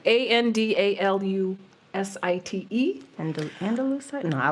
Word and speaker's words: andalusite: site I'm going to say I'm going to pronounce it like that andalite andalusite a n d a l u s i t e and andalusite no I like inite that sounds